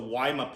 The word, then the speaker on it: Woma: they actually pronounce it weima python in australia so waima python is how you probably hear that being spoken in australia but either way these